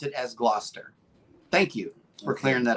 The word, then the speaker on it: Gloucester: Oh, and Bone Tire Traveler says they pronounce it as Gloucester.